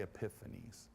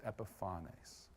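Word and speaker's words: Epiphanes: name in different ways the best way to say his name is I've been able to understand is he's Antiochus the fourth known as epifaño okay some people say epiphanies it's Epiphone ace apparently yeah I should write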